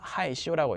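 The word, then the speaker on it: 害羞: 어떻게 읽냐? 하이시오라고 읽습니다.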